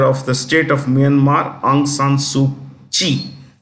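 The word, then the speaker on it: Aung San Suu Kyi: the state of Myanmar aung San suu Chi kyi is pronounced she is in jail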